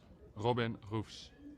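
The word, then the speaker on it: Roefs: Pronunciation. There we go. Robin Roofs.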